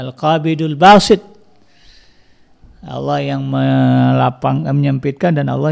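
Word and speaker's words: القابض الباسط: Al-Qabid misalnya yang Maha menyampaikan, Al-Basit, maka dibacanya Al-Qabidul Basit.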